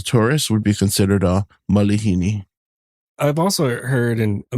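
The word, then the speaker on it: malihini: say mispronunciation but yeah a lot of people think there's a actual a after the the L but it's I so it's going to be Malini Malini Malini yeah there you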